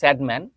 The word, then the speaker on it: সাদমান: দুইজনের বাংলা উচ্চারণ একই, কিন্তু আমার ইংরেজি উচ্চারণটা স্যাডম্যান আর ওটা হচ্ছে শ্যাডম্যান, ঠিক আছে?